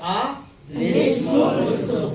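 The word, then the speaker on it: الاسم الفسوق: তাহলে আমরা দুইটা সাকিন হরফের মধ্যে প্রথম সাকিন হরফের নিচে আমরা একটা জের দিয়ে আমরা মিলিয়ে নিব। তখন উচ্চারণটা কি হবে? আলিসমুস। কি হবে? আ লিসমুল ফুসুক।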